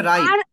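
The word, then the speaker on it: ripe: রিপ না, শব্দটার উচ্চারণ হবে রাইপ।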